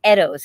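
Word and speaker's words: Eddowes: say his name again his name is mark eddos it's e-d-d-o-w-e-s and he's from new zealand but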